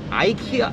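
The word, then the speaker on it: IKEA: 아이키아 이케아가 발음이 뭐예요? 아이키아야 미국 사람들은. 그죠? 한국에서는 이케아가. 아 그죠 아이키아 맞죠? 그럼 원래 발음이 아이키아죠?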